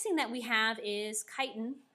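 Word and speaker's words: chitin: that we have is kiten not spelled the way it's pronounced so kiten is also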